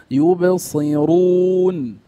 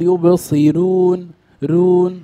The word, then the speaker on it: يبصرون: مضمومه وهكذا وهكذا وهكذا يبصرون رو رو ولا نقول يبصرون رون ها كما ينطق الكثير هذا خطا يبصرون رون لا انتبه الراء هنا تفخم لانها kudan keadaan yang ke